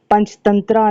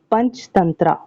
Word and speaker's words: पंचतंत्र: की जो स्टोरीज हैं पंचतंत्रा नाम है। एक्चुअली कलीला व डिमना जो है क्या नाम है इसका एक्चुअल नेम? पंचतंत्रा या पंचतंत्र। ठीक है? यह ए साइलेंट होता है हिंदी में।